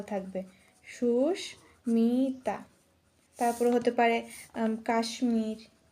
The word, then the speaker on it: কাশ্মীর: সুস্মিতা তারপর হতে পারে কাশ্মীর কাশ্মীর যার মধ্যে ম এর উচ্চারণটা বহাল থাকবে কাশ্মীর আজকে আমরা যে